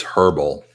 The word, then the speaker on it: herbal: It's herbal with an H.